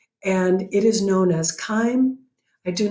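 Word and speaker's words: chyme: food that you've eaten the resulting mixture is kind of like a cream of mushroom soup and it is highly acidic it's got a pH of around 2 and it is known as kind I do not know why it's pronounced when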